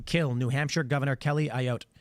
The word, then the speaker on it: Ayotte: 22-year-old man charged with threatening to kill New Hampshire Governor Kelly Ayotte. How do you pronounce that? Ayotte? Yeah. Ayotte.